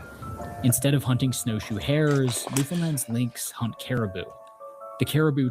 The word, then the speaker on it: Newfoundland: It's not New Finland. You thought it was Finland. These animals have started to look different from those on the mainland. Instead of hunting snowshoe hairs, Newfoundland's lyns hunt caribou.